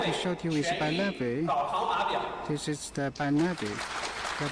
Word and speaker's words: BiNavi: The origin name BiNavi is the Bike Plus Navigator, second leader of the English spelling combination of words, pronounced BiNavi.